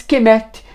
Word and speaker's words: Kemet: e não se transliteracion o próprio país de kemet provavelmente pronunciavam mais proximamente a cumet Mas kemet passou a ser a pronúncia adotada por egiptólogos e o que queem